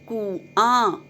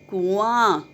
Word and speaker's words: कुआं: लेकिन 10वें शब्द में आप ध्यान से देखिए, कुआं, कुआं। कु के साथ अनुनासिक की आवाज़ नहीं आ रही। आ के साथ, आ लास्ट में देखिए आ है, उसके साथ अनुनासिक